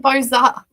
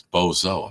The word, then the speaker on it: bozo: They're saying Boza. No, it's bozo. I'm telling you how to say it, bozo.